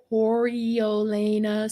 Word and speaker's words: Coriolanus: We learn how the boy Coriolanus Snow, did I say it right?